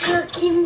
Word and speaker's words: talking: the first syllable and the L is silent so this syllable is talk not talk the second